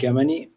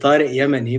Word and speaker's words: Yamani: my name is kermany uh i've actually been pronouncing my name wrong for the past like 20 years like you know i mean it's actually yemeni but yeah but i